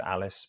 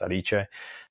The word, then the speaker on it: Alice: everyone calls it Peter Alice because no one knows that it should be pronounced aliche but um if so